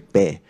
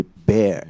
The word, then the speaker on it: bear: If it is at the end, that's like air, you know, like air conditioner. Bear. In Cantonese, we'll usually say bear, but it should be bear instead.